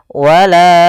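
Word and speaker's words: ولا: Wala baru baca a. Panjangkan la-nya dulu 4 harokat baru lepas. Wala wala.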